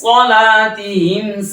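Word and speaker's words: صَلَاتِهِمْ: মুসাল্লিন আল্লাযীনা হুম আন সালাতিহিম সাহুন। লক্ষ্য করেছেন? আন সলা আমি চাপের উপর বলেছি, সাহুনটা সিনের উচ্চারণটা ভাসি বলেছি। সিনের উচ্চারণ আর সদের উচ্চারণ অনেকে পার্থক্য করতে পারে না।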